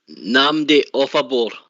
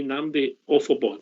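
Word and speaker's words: Nnamdi Ofoborh: How are you pronouncing it? Namdi Offabor. That'll do for me, Namdi Offabor.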